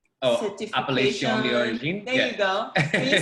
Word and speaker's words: Appellation d'origine: I'm not going to attempt to pronounce the AOC. Can you say it? Appellate d'origine certification. Appellation d'origine.